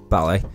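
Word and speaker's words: Baile: ballet is English for the Irish word Beale pronounced ballet which means time hence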